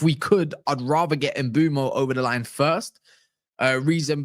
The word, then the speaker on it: Mbeumo: To bring up my mood though, Amorim wants Mbeumo out, or I think that is how you say it. I double check. That's how you say his name. Mbeumo to Manchester United, and Delap, as it stands,